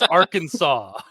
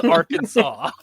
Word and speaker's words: Arkansas: I know it's I know it's spelled ar or Kansas, but it's Arkansas.